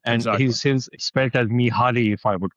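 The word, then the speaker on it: Mihály: like that, and and he's his expert as Mihaly, if I would call it that, right? The Hungarian pronunciation of Mihaly is is is what you just said, Mihaly.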